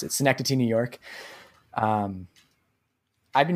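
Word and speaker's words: Synecdoche: malovich adaptation and uh STI I think that's how you pronounce it sencity New York um I've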